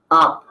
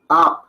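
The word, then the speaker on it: आप: Exacto, como la escriben más son Narvadan, se escribiría con doble A, pero si lo hacemos en una transliteración castiza sería la A con tilde y la P. A. Porque la A es la transliteración al inglés. En español, en la forma castiza, para que alguien de habla hispana la pronuncie bien, tendríamos que escribirla de esta manera.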